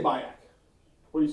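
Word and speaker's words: Biak: It's spelled B I A K, which you know in English would be BAK.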